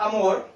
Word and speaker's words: amor: En la primera palabra, amor, yo separo amor, 2 sílabas. Ahora, donde cargo la voz, en la última sílaba.